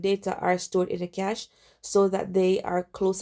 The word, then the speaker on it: cache: So let's talk about the cache, and it's pronounced cache as in money.